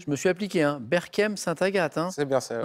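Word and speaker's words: Berchem-Sainte-Agathe: Berkem-Saint-Agathe. Hein. C'est bien ça. Ouais. Hein, j'ai bien prononcé.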